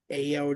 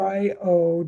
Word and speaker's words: Ayo: AO Jones. Is that how you say it? Oh no, I didn't want to say it and get it wrong, Amanda. Oh. Sorry, it's No. AYO Jones.